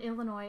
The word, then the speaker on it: Illinois: I live in Illinois, and whenever someone says Illinois with the S, it's so annoying I can't explain.